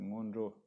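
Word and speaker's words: sngon 'gro: То есть, ну, это ньондра – это неправильное, как бы, искаженное произношение. Вообще, по-тибетски говорится монджо.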